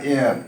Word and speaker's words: heir: एयर, एयर, यहाँ भी H silent है। एयर मीन्स हुआ हवा, और HEIR एयर, एयर मीन्स हुआ उत्तराधिकारी, जिसे हम वारिस भी कहते हैं।